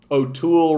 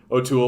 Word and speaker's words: O'Toole: one you like yeah nobody put together that o'toole rhymes with cool right that's how lame